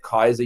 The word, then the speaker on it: Keiser: He's at Kaiser University, which is in West Palm, Florida. It's spelled Keiser, Kaiser University.